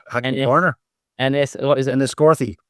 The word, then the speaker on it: Enniscorthy: How do I pronounce that track? Which one? Hackney Corner. What is it? Enniscorthy. Enniscorthy, that's the one, okay?